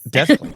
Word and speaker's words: Des Plaines: And how far is that from that's in Des Plaines? Am Des I saying it right? Plaines. Des Plaines. Oh, you do say that.